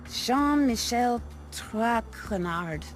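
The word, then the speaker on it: Jean-Michel Trénard: butchered while I eat as for my name not trenard it is Jean Michelle trenard Shan Michelle trenard TR TR TR Tron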